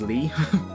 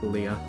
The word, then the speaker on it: Lea: I read it as Lee but I think consensus is that the closest to official is Leah so I'm going to